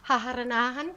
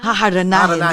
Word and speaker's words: haharanahin: Tapos, haharanahan ko. Is that how you say it? Haharanahan? Haharanahin. Yes.